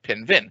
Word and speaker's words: Pinvin: which spelled it as Pinfin instead of Pinvin, which got him thinking, is that like a Welshman? Because of course in Wales the F is pronounced as a hard V.